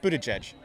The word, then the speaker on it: Buttigieg: a question we're asking everybody how do you pronounce his last name Buddha judge very good and is that the correct way